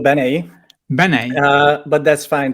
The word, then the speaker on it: Benei: to and I'm not sure if I'm pronouncing your name correctly Benet sort of like yeah how do you how do you say it it's called Bene Bene uh but that's fine totally fine uh